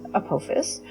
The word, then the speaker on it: Apophis: the asteroid 99942 Apophis, actually pronounced Apophis, which is different from the mythological creature of the same name, which is pronounced Apophis, was a near-Earth asteroid